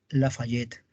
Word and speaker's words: Lafayette: mi tío el marqués lafayette se escribe la falla t se pronuncia lafayette como la burguesía es